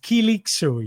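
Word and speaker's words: Kılıçsoy: So, he's pronounced Kilik Soy.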